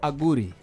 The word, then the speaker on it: Aguri: Is it Aguri or Aguri? Well, since I'm a Langi, Langis pronounce it as Aguri.